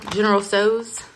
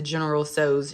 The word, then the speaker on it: General Tso's: These real good chicken General Tso's. That's how I pronounce that. I know people pronounce it differently.